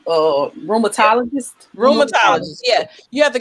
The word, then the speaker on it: rheumatologist: Rheumatologist.